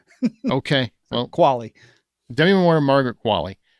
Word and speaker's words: Qualley: I remember I saw her in an interview and she said it's pronounced like Wally, but with a Q. Okay. Well, Qualley.